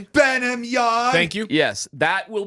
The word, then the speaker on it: Burnham: Will there be that will be the primary Burnham Yard? Yes. Or whatever you want to call it. Broncos. Say it right. Please say it properly. Bamard.